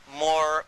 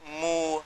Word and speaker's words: Moor: What connects it up is even the word Moor, because it's pronounced differently in different parts of Africa. And they call themselves Moor, Mu, Mur.